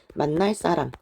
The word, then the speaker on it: 만날 사람: 끊어서 읽을 때는 상관없지만 얘를 빠르게 발음하게 되면 만날 사람 이렇게 표현을 하게 됩니다.